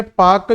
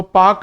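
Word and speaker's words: Palk: तो कई लोग इस पाक डल पाक को पाकिस्तान समझ बैठते हैं। तो पाक की एक बार स्पेलिंग जरूर बेटा पढ़ लेना कि इसकी स्पेलिंग पी ए एल के है। तो ये पालक वाला पाक है।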